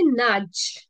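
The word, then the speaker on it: nudge: ढकलणे next word आहे नाज नाज एन यू डी जी ई नज ओके डी साइलेंट आहे इथे नज टू जेंटली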